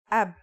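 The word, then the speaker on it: أب: It's pronounced ab.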